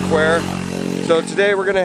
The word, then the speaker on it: Kwai: Most people in the west, though, call it River Kwai, but it is pronounced Kwai.